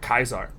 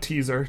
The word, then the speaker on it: Caesar: uh secret game project Caesar or if you like to pronounce stuff correctly uh because you've taken a class of Latin project kaar or as we like to call it project taar not teaser taar uh today we will